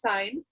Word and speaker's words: sine: the function SI n which I realize looks like sin it is pronounced sine you will see this